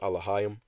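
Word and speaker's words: אלהים: name of his God okay the word is Elohim in the Paleo Hebrew it's pronounced alayam all right and it means rulers judges Divine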